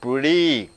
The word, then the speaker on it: pretty: Even though the letter is Y, the sound is E. Pretty.